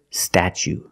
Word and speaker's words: statue: for the second syllable we use the long u like Boot and moon ooh together statue this is the Statue